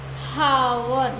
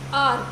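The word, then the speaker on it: hour: सो यहाँ पर हम हावर नहीं कह रहे, जस्ट और कह रहे, मतलब H साइलेंट है।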